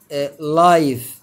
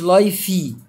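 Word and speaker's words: life: زي ما انتم شايفين كلمه لايف الاي هنا في اخر الكلمه منطقش ماقولش لايفي تمام كلمه نيم برض ماطق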